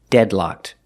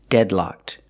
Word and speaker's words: deadlocked: The ed is pronounced with a pure T sound, locked. Together, deadlocked.